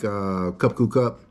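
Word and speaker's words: ขอบคุณครับ: is just, it's confusing, and it's pronunciation, and pronunciation matters. Because you'll hear them say it in one way, like cup ku cup.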